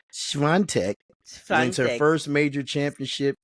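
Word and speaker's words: Świątek: I always pronounce it as Swiatek, but it's Swiatek.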